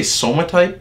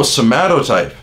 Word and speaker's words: somatotype: Did he say somatype? It's called somatypes. Somatypes. Yo, buddy, are you gonna... Can you see me? Are you seriously gonna make a YouTube video about body types and pronounce the word wrong? It's called somatypes. Oh, somatotype. That's what you're trying to say.